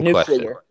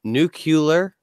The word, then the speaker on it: nuclear: direwolf for the audience please pronounce the word that is spelled in UC le AR nuclear pod same nuclear nuclear there we go and for all of you out there who said nucular you are wrong anyway dire I